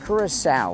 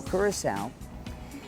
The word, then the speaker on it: Curaçao: kurasa I learned from our tour guide is pronounced kurasa like s like a cow kurasa and the island is 37 Mi long so